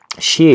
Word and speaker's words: Xie: Xie, this character is usually pronounced Qi, but for this personal character, the word is the character for this figure. The character is pronounced Xie. Xie is also from the